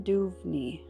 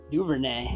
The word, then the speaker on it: Duvernay: locked very nice rookie cookies ravens cookies devin duvney duvernay duvernay not too bad i feel like a first grader pronouncing my words with you on these names